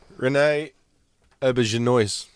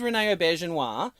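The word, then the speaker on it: René Auberjonois: Anyone want to attempt to pronounce that? Renee Auberginois.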